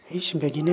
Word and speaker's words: Ich beginne: Spelling का ख्याल रखें। आगे बढ़ते। Ich beginne. इश बेगिने इसके माने होते हैं मैं इब्तिदा कर रहा हूँ या मैं शुरू कर रहा हूँ।